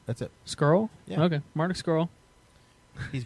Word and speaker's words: Scurll: No, that's Marty right. Scurll. That's how you say it. That's it. Scurll?